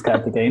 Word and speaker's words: Kartikian: Kartikian? I don't know how to pronounce it properly, sorry. It's Kartikian.